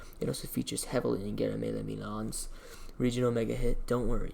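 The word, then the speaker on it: Guillaume Le Million: That meant only one thing: Guillemelle Milan. If it doesn't rhyme, you're not pronouncing it right.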